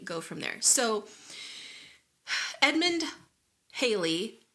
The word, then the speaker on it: Halley: read it was like it could be either rhymes with Valley daily or Crowley so it's like you